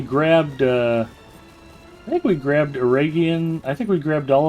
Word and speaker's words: Eregion: So Aragian would be a hard G.